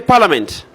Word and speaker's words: parliament: Can you not say parliament? What is silent? The I is silent.